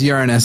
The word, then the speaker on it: Uranus: Anyway, but it is pronounced Uranus anyway. I'm pretty sure that's how Neil deGrasse Tyson does it.